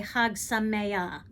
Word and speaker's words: Chag Sameach: Now the CH in the word Sameach, right? You're clearing your throat. It's not so easy for some of us to pronounce that. So if in case that is difficult, then I can suggest you just simply say Hag Sameach and just leave out the ch at the end.